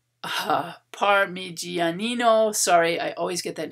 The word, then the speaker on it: Parmigianino: renaissance style and mannerist paintings by potormo and parmigiano parmigianino sorry i always get that name wrong a feature elongated figures ambiguous space an